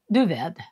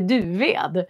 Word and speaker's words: Duved: Duved. Det heter Duved, inte Duved.